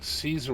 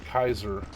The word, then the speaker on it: Caesar: pronounce Kaus just like Caesar was actually pronounced Kaiser which is why the Germans call it Kaiser anyway moving on let's